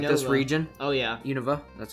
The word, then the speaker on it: Unova: which are really like this region oh yeah Unova that's how you pronounce it and they get and pokemon black